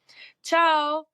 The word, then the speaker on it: tchau: Ciao, which is spelled Tchau, which is interesting.